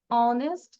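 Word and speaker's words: honest: করে হি ইজ অ্যান অনেস্ট ম্যান এখানে এইচ এর উচ্চারণটা হয়েছে নো বাট এইচ টা কি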